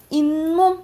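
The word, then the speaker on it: 잇몸: 우리가 치아를 보 보호해 주는게 인몸이죠.인 인몸 이렇게 발음나지 그지?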